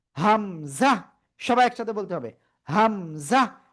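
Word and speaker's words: همزة: হামজাহ। কোন টান হবে না এটা।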